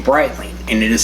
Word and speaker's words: Breitling: It's spell It's said like bright and then l i n g, Breitling.